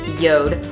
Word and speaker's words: Jord: teamed up with yo its Jo RT pronounced yo'd watches and we will be